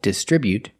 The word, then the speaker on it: distribute: They distribute their products, with a stress on the second syllable, distribute.